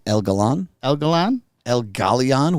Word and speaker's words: Galan: el Galan El Galion where's the I where's the e a n is there g a l it's g a l a an the eye is silent the Eye Is So Silent it's not even in there it's not even there right the eye is